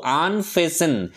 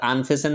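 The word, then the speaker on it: unfasten: তারা দুজনে মিলে কি করল আনফেসেন উচ্চারণটা কিন্তু আনফেসেন টিটা সাইলেন্ট ওয়ার্ড উচ্চারণ হবে না মানে কি খুলে ফেলা ফেসেন মানে বেঁধে ফেলা আর আনফেসেন মানে খুলে ফেলা ম্যানস ক্লোদিং অর্থাৎ লোকটির পোশাক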